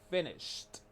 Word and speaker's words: finished: Para que el verbo esté en pasado, tienen que pronunciar el sonido de t al final de sh. Entonces suena sht, sht. I finished.